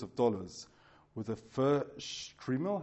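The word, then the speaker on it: shtreimel: dollars, with a fur strimmel, how do you say it, strimmel, is that right? Strimmel, thank you, can cost thousands, depending on the type of animal skin in its manufacture.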